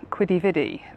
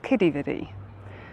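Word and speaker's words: Quidi Vidi: to a place called, well, it's written Quiddy-Viddy, but I believe it's pronounced Kiddie-Viddy, and it's an old fishing harbour, and I think there's a lot more history to it than that.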